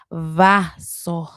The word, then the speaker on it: vaso: to be more accurate, please try to pronounce it with the b sound. B as in ball or botella. But if you are a rebel without a cause like myself, you can pronounce it vaso, like viernes, vaso.